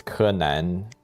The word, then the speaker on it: Kenan: For me, I'm I'm a bit lucky that my my Chinese name it's Kanan and the ping is spelled Kenan.